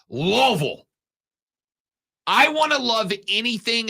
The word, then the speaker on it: Louisville: State cannot get in if they lose to Louisville by the way I said Louisville one time one time I said Louisville in this segment and I get the text that goes Rob it's pronounced loville I want to love anything as much as